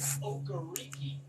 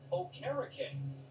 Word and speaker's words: Okereke: us last night that when he said his name for the radio broadcast during the preseason, he pronounced it Okereke. And the PR staff said, wait a minute, it's been Okereke the 2 years. He goes, nah, you guys have been saying it wrong my first 2 years.